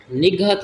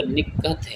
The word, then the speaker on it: نکہت: بلکہ حیوان ہوتا ہے۔ نگہت نہیں ہوتا بلکہ نکھت، یہ ہمارے ہاں مشہور ہے لفظ جو ہے نا، یہ جو ہم بولتے ہیں لفظ نگہت بولتے ہیں، جبکہ اصل جو تلفظ ہے وہ نکہت ہے، نکہت۔ بن نوری نہیں ہوتا